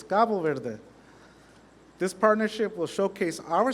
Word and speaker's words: Cabo Verde: Some of you may heard about it as Cape Verde, but the official pronunciation is Gabo Verde.